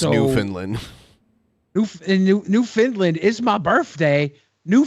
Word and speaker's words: Newfoundland: 106 A.M in Newfoundland which is pronounced New Finland Newfoundland is my birthday